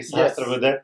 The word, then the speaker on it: Sahasrabudhe: Yes, And Sanjay, I pronounced your last name correctly, Sahasrabudhe. Yes, that's correct.